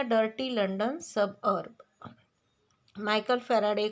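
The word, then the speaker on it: Faraday: वड call himself फावडे अब जैसे कि उनका नाम फैराडे था लेकिन व अपना खुद का नाम भी सही तरीके से प्रोनाउंस नहीं कर सकते थे और खुद को वह फैराडे के जगह पर फावडे ऐसे बोलते थे अदर चिल्ड्रन लाफ एट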